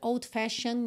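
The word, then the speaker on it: old-fashioned: fashion notion atenção que old fashion Você pode falar como se tivesse escrito Fashion mesmo por quê Porque o e não é pronunciado certo e o d pode ou não ser pronunciado a depender de uma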